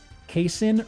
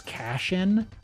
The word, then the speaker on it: casein: He also mispronounced uh casein or casein protein and he called he pronounced it as cashin.